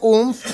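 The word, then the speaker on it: OOMF: Lo que yo te estoy diciendo, maldita necia, es que O-O-M-F, que yo pronuncio umf porque así se lee, significa one of my followers.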